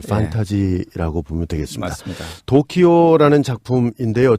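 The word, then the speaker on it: 時生: 그래서 이거를 일본말로 시생을 일본말로 도쿄라고 읽어요. 그걸 읽으면 도키오다.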